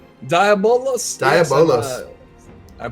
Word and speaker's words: Diabolos: Diabolos. Yes, I pronounce it like how Yoshi P pronounces it.